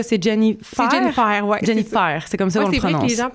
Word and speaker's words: Jennifer: Jennifer, c'est comme ça Ouais, qu'on le c'est vrai que prononce. les gens pensent des fois que je m'appelle Jenny mais non, Ou c'est Jennifer, tu sais, Ouais, il y a Jennifer.